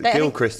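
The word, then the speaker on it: Gilchrist: just clear this up is it Gil Christ or I call him Gil Christ okay cuz Gil Christ is how it's pronounced I'm just clearing that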